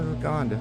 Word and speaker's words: Lagonda: Is that how you say it? Laguna? No, Lagonda. V12 Rapide.